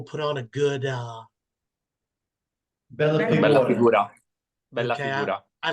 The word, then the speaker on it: bella figura: again, where people put on a good Bella Bella figura. figura. Bella okay, figura. I like that word, but I cannot pronounce it.